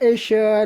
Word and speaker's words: ich: ګوره تلفظ کې ګوره ايش کامه نه ده، ايش komme aus. Ich komme aus München.